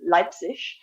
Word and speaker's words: Leipzig: They have a winter event, which is held in I never pronounced this right, but Leipzig.